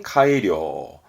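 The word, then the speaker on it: 改良: 고칠 개자 붙어서 개량, 발음은 카이료, 카이료, 뭔가 개량하는, 좋게 고치는 카이료가 되겠습니다.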